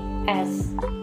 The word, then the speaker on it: Kauravas: Okay, so number one is KAURAVAS, that is Kauravas.